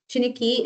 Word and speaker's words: Chiniki: Chiniki is chiniki. Exactly the way it sounds and looks.